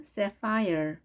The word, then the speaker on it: sapphire: 영어로는 sapphire, sapphire, sapphire. 자, 강세가 앞에 있습니다. sapphire. 그리고 ph 발음을 해줍니다. f 발음을 합니다.